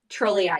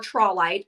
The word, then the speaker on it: trolleite: going to spell it for you. It's Okay. TROLL, Uh-huh. trolley, EITE, Trolleite. trolleyite. Yes, or trollite, as some Mm-hmm.